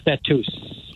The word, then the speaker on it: Betws: Well, when you said Betus, because like Jeff said, the W is oo. Ooh. So like school is a double O. Yeah. This is Betus.